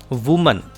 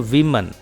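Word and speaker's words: women: Dear students, singular अगर हो औरत तो उसकी प्रोनाउंसिएशन होती है वुमन, और अगर प्लूरल हो तो विमन। वो मैन नहीं कहेंगे, विमन।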